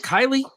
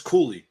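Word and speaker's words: Coyle: me with Blake wheeler and how do you pronounce the other guys is is it Kylie K kyy I think kyy Co oh wait c y l l e oh no coie it's coie it is pronounced okay yeah and then you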